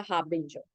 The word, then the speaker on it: harbinger: harbinger right a harbinger you don't pronounce the r after a right it's a harbinger so for example lightning is a harbinger of thunder that means